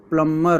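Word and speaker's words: plumber: जो यहां पर प्लंबर होता है इसमें बी साइलेंट होता है। इसको प्लंबर ऐसे करके पढ़ते हैं। तो यहां पर बी साइलेंट हो जाता है।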